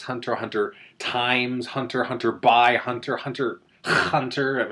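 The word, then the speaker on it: Hunter × Hunter: But no, you just leave them out completely.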